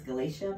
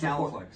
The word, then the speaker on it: GalaFLEX: of this, but it looks like it's Galatia mesh. Oh, it's Galaflex.